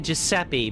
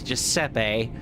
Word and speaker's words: Giuseppe: But the more important thing is Romeo just told us that Giuseppe, I've been pronouncing it Giuseppe, but it's Giuseppe.